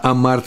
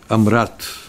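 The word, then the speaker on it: אמרת: И амарт бишлама. Не так я произнес. Правильно произношение это будет амрат.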